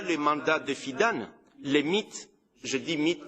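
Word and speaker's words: MİT: mandats des fidèles les mythes jeudi mythe parce que on les prononce mythe on dit pas et me taire a massivement recruter des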